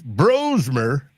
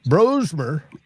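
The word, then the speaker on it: Brosmer: JJ or the Max bromer and it's pronounced bro and not bras uh bromer bro is the you like the party to Trey Lance Well, party got drafted, albeit last.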